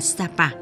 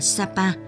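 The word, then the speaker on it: Sa Pa: miền Nam nước Pháp Tên vùng đất này phát âm theo ngôn ngữ địa phương Là Sap nghĩa là bãi cát là nơi người dân thường họp chợ người Pháp phát âm là Sapa tên gọi đó được giữ cho đến ngày nay ngay sau đó công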